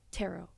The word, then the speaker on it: tarot: So the T silent. Yeah. Tarot cards. Tarot.